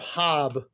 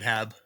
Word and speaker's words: Haab: You must get a lot of Haab. Yeah, I get Haab more often than I get Hab, honestly, to the point where I've just stopped correcting people.